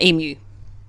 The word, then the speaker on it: emu: For Americans, if the U is on its own at the beginning like that or at the end like in emu, it's pronounced U, like you are an emu. So yes, it's Ute and it's emu.